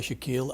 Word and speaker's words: Shakil: As you said, my name is Shakil. I go by Shakil. I'm a toxicologist, and now you pronounce it very correctly. Thank you. This is how it's pronounced.